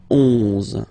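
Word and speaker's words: onze: 11, okay, so O plus N give you the sound on, 11, 11, okay? Final E doesn't exist phonetically, 11, okay?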